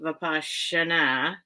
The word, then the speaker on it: vipassana: think that's right it's papa na but it's pronounced vipassana it's um hindi i think and um that